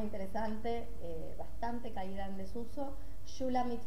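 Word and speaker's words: Shulamith: Shulamit se escribe S-H-U-L-A-M-I-T-H.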